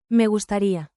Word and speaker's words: Me gustaría: Tap the rhythm and speak with a gentle tone. Clap, clap, snap. Me gusta ri a. Say it smoothly. Me gustaría.